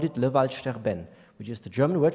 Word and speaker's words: Waldsterben: They used the German word and pronounced it the French way. They called it le Waldsterben, which is the German word for dying forests, the French pronunciation.